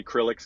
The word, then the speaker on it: Chrilleks: I was just gonna say Chrilleks because it's Chrilleks. Chris and Alex.